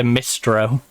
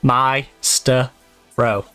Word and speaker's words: Mistro: They'll say Mistro. Even though there's capitalised bits in there deliberately. You know, my-ster-ro.